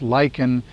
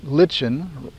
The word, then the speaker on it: lichen: Well, in many cases, what you're looking at is a lyken. It's pronounced lychen in the American English and lichen rhyming with kitchen in British English.